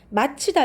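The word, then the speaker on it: 맞히다: 드러나다 효과 발음이 같아요 마치다 욕은 발음 어떻게 하죠 마 c 이다 로 발음을 하겠죠 마치 당 그래서 이것도 제가 발음할 때는 마치 다로 하지만 적을 때는 위에 있는 것과 같이 맛키 다로 어법에 맞게 고쳐져 거야 되는 글자 입니다 그다음 넘어 어 주다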